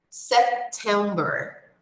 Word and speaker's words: September: Aqui, a segunda sílaba é a mais forte, ou a sílaba tônica. Em inglês, nós chamamos de stressed syllable, ou a sílaba mais forte da palavra. So, aqui nessa palavra, como nas outras, é a sílaba do meio.